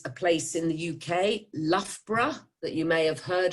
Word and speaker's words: Loughborough: number three is a place in the uk loughborough that you may have heard about and you spell that l o u g h b o